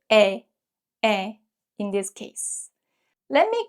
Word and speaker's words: 의: When 으이 is used as apostrophe s in English as a possessive marker, it's usually pronounced as 에.